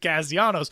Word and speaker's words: Castellanos: Nick doesn't care how anybody says his last name, but his dad is like super gung-ho about like you have to pronounce it Castellanos.